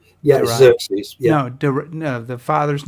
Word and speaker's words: Darius: and what happens is and King Darius is definitely up for coming back and starts